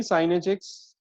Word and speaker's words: sinh: Okay, this is called hyperbolic sine function, also pronounced as sinh of x. Okay, sin h, but sinh of x is a common pronunciation.